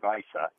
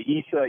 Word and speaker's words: Issa: like my grandfather uh if you say Issa you say it like somebody from that region of the world so it really is okay either way well that's good you